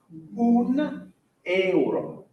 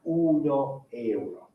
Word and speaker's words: un euro: If we're saying €1 or €1, the O goes away. So it's un euro. Okay, so it's not uno euro.